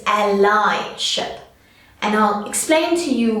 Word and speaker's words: allyship: It's not allyship, it's allyship. And I'll explain to you why. We're actually taking a word and we're adding a suffix to make the word allyship.